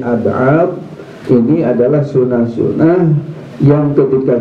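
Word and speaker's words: أبعاض: Tapi kalau sunah ab'ad ya, pakai dot ya, bukan dal ab'ad tapi ab'ad, ini adalah sunah-sunah yang ketika kita tidak melakukannya disunahkan untuk sujud sahwi.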